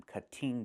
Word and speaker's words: cutting: We cannot say I'm cutting the tree. It's pronounced cutting. Move the stress to the first syllable, cut. Not cutting, but cutting. And in America, we change